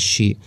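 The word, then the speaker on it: 士: The first kanji means is being pronounced as shi, meaning a scholar or a noble gentleman, scholar.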